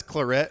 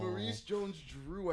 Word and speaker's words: Maurice Jones-Drew: Jones- And then he says Claret, and I'm like, no. Maurice Jones-Drew.